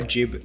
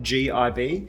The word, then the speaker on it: gib: and those little nuts are called a jib screw, spelt G-I-B. It could be pronounced gib, it might be regionally specific, or maybe it's just one way and not the other way, but this is a jib.